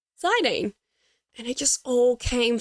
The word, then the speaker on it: Zidane: For the purposes of this being a nostalgic play through, I'm going to call him Zidane.